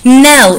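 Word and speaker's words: knell: personality in that reputation nell so it's pronounced now but it's got that silent k at the start is a church bell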